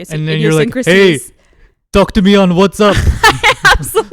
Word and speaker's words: WhatsApp: like the Pakistani mango WhatsApp connect I've been trying I haven't been trying that hard but whatspp like my parents well how do you say it it's WhatsApp oh it's a p I'm like a native